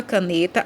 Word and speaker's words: caneta: Na palavra caneta, a sílaba tônica, o ne, é a penúltima.